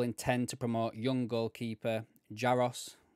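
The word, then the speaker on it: Jaroš: to promote young goalkeeper jaros or Jos or varos depending on how you pronounce his name in his tongue uh to Anna slot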